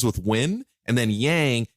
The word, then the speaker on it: yang: I always go yin as the good because it rhymes with win, and then yang is the bad because it rhymes with wang, right?